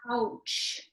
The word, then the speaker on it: Pouch: Okay, so Jessica, I'm going to butcher this last name, Pouch.